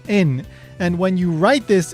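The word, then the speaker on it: 円: So, in English, we say yen, but actually, in Japanese, it's pronounced en.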